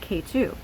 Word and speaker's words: Ketu: However, it is now called K2. So it is spelled Ketu, but you can call it K2 for short.